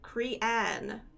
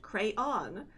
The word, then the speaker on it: crayon: She kind of says it like Crean. So she asked me how I pronounce it, to which I said crayon with a slight roll in the R.